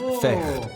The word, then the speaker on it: vecht: In Dutch, fight is vecht, pronounced with a guttural sound.